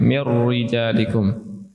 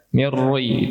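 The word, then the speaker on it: مِنْ رِجَالِكُمْ: Mir rijalikum. Beberapa siswa terkadang membaca yang tipis sebagai yang tebal, ya. "Mirri," itu salah.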